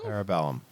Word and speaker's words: Parabellum: the third one uh parabellum parabellum i'm sorry if i butchered that uh no that's the proper parabola trailer was great